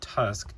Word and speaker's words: TU5CC: That's pronounced Tusk, TU5CC.